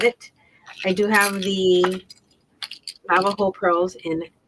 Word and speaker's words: Navajo: So it's spelled Navajo with a J, Navajo, if you want to look it up on the website.